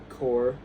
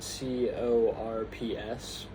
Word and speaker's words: corps: Um and the the um vestigial letters in these words were pronounced in French all the way up to right before they were borrowed into English and then they just weren't once um once the English started pronouncing it like using those words. And they are chateau, corps, queue, and debris.